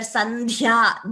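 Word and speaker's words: सन्ध्या: So please remember that here, Sandhya, dha is a mahaprana.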